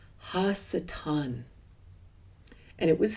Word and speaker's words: ha-satan: and it was called Ha-satan. And it was spelled spelled it was anglified h a s a t a n pronounced hassatan.